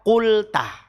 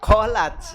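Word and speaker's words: قلت: Idza qulta, ya, bukan dibaca qolats ya. Kalau qolats ada alifnya, qolats. Nah, ini kalau enggak ada alifnya berarti antara qulta, qultu, qulti.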